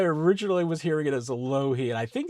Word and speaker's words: Alohi: But then you just, find out over the years that, well, in here it says it's a low he in the official pronunciation.